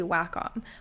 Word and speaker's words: Wacom: I really like the wcom line although I've heard that it's actually Wacom so I might be pronouncing that wrong we've always said wcom in my family and we're all like